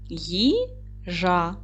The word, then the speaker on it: їжа: Їжа. Наголос падає на перший склад. Отже, слово їжа має два склади: три букви і чотири звука, тому що ї, буква ї, має два звуки.